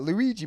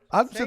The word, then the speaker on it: Ouija: You're not saying it right. Luigi board. That's not right. Ouija board. Adam said Luigi.